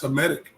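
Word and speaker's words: Hamitic: Headic or Headic? How do you say that? That's Hemetic.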